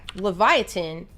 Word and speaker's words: Livyatan: Leviathan wrong so yeah Leviathan is in reference to the mythical sea monster Leviathan it's just a Hebrew spelling it was actually initially